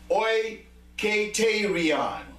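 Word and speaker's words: οἰκητήριον: And when you look at the original meaning of it, or the way you pronounce it, the way you pronounce it is oiketerion.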